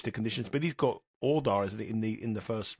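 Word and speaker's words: Jódar: who will relish the conditions, but he's got Ordar, isn't it, in the first round, the young Spanish player, who I can never pronounce. How do we pronounce it again? Hodar.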